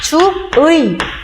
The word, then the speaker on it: 주의: 얘를 올바르게 발음하면 주의.